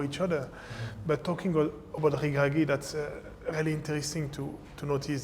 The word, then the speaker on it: Regragui: Now, Walid Regragui, how do you pronounce it? Regragui.